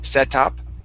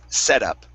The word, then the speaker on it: setup: So, treat this T right here as a uh as a flap T or a D sound. So, instead of setup, it's setup. Setup.